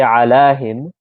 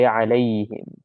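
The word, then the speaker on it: عليهم: We don't say alahim, we say alayhim. Alayhim. Because alahim sounds a little bit weird, so they changed that to make it easy.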